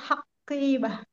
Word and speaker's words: حقيبة: An-nazaratu fil haqibah. Ah, Fil haqibah. Fil haqibah. Itu kalau seperti itu seperti ada tasdidnya ya. Bacanya di ringan aja, nggak usah terlalu gimana gitu ya.